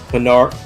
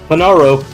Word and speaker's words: Panaro: 4th place going to Daniel Pinar, but I'm going to say it right, Panaro.